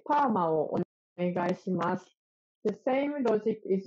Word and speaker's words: パーマ: And if you want to get a perm, you can say parma をお願いします.